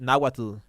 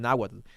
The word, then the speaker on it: Nahuatl: I also used to I also say it Nahuatl, like with the t at the end, because that's the Spanish way that the Spanish used to pronounce it.